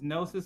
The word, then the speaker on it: Gnosys: So my name's Gnosis on Twitch. It's spelled GN0SYS.